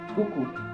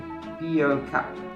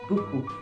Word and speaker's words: beaucoup: Consider this word, beaucoup. You'd expect it to sound like bio cup, but no. French says beaucoup, because logic apparently took a coffee break.